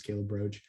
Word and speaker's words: Caleb Roche: not like the bug it's pronounced like the bug but not spelled like the bug um if you go to my our website or connect me with me on linkedin my name is calebroach um find a way